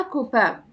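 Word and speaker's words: copain: كده النطق اختلف يعني في المذكر قلت ا كوبا في المؤنث اون كوبين الاي ان في الحاله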